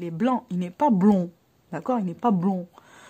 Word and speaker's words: blond: Alors, blond comme poisson, c'est O-N.